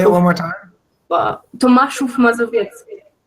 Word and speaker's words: Tomaszów Mazowiecki: In a small city that is called Tomaszów Mazowiecki. The pronunciation is like super difficult for strangers. Say it one more time. Tomaszów Mazowiecki. Tomaszów Mazowiecki.